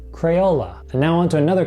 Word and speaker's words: Crayola: sticks known as crayons this company's name is pronounced Crayola cray hola Crayola and now on to